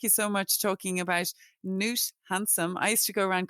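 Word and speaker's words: Knut Hamsun: I used to go around calling him Canute when I first discovered him, but I'm delighted that you've corrected me there. So I now know in future Newt Handsome.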